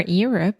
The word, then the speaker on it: Europe: a really redneck you're you're up you're up like it's your turn it's you're up you're up there we go I prefer Europe so much cleaner better